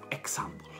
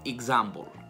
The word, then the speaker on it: example: Però se voglio dire in inglese per esempio, esempio in inglese non è example, assolutamente, ma in realtà è example. La X si pronuncia come una G seguita da una Z, quindi se devo dire per esempio si dice for example.